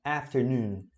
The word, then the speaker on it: afternoon: Aí a intensidade da palavra é nesse noon. Você puxa para baixo. Noon, afternoon, afternoon.